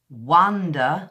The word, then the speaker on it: wonder: at the beginning but when you wander and walk it's kind of a it's a earth as opposed to a all see the off the mouth shape is kind of round and it's different for the air so it's wonder where you're wondering about something and wander where you're going for a short walk now this sound kind